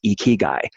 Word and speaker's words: Ikigai: did in a presentation about Ikigai, which is pronounced Ikigai.